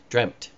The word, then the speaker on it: dreamt: Had we not had any of that, most all of our language would have changed its pronunciation to be T. Dreamt.